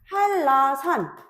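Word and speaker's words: 한라산: 그래서 할라산 요거는 지금 뒤에 있는 유이 앞에 있는 비음한테 영향을 주어서 발음될 때 어떻게 되겠어요? 할라산이라고 발음이 됩니다.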